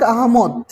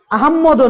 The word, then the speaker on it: আহমদ: গুরুত্ব দিয়ে খেয়াল করবে, ফররুখ আহমেদ নয়, অনেকেই ভুল করে বলো অথবা শোনো, অথবা এটা অভ্যাস হয়ে গেছে মানুষের। ফররুখ আহমদ, আহম্মদও নয়, অর্থাৎ ডাবল ম, অর্থাৎ ম ফলা উচ্চারণ করে অনেকেই সংযুক্ত ধ্বনিতে, অর্থাৎ দ্বিত্ব করে, মকে দ্বিত্ব করে আহম্মদ, কিন্তু আসলে নয়, ফররুখ আহমদ। হ্যাঁ, মনে রাখবে, আহমেদও নয়, আহম্মদও নয়, কি আহমদ, ফররুখ আহমদ কবির নাম।